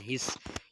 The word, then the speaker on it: His: पर ये bundle branches को हम बंडल ऑफ हिस भी कहते हैं, मतलब HISS इसकी जो है ना स्पेलिंग होते हैं, हिस के तौर पर पढ़ा जाता है।